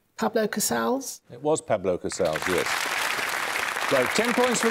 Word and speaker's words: Casals: spain this fellow called cabals is it cabals casaus casaus nominate ansley pablo casals it was pablo casaus yes so ten points for this what term